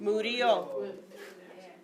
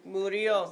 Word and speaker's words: murió: I don't know how to say it, but it's like M-U-R-I. Murió. Murió. Like Mario. Exactly. Mario with a U and an accent mark.